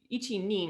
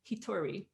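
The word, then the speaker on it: 一人: read through together um ichi nin would be like the logical thing you think you would say but actually you say hitori like the hito is the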